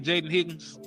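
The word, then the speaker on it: Jayden Higgins: Jaden Higgins.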